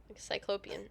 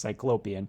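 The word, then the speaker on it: Cyclopean: cyclopian it is cyclop cyclopian okay and I just said it wrong it's cyclopian yeah yeah you are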